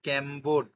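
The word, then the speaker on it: Cambod: এটা ভালো করে দেখো উচ্চারণটা হবে ক্যাম্বোট ক্যাম্বোট শংকর জাত এছাড়াও চা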